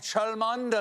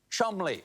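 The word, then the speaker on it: Cholmondeley: me the maress of Chand what a beautiful name that I'm being told right now that I pronounced incorrectly it is in fact pronounced Chum Counterpoint no it's not learn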